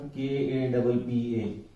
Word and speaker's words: kappa: इसका प्रोनाउंसिएशन क्या होता है स्टूडेंट, KAPPA। कापा बनाने का तरीका क्या है, सीधी लाइन, और ये इस तरह जैसे टेबल से बना देते हैं कापा।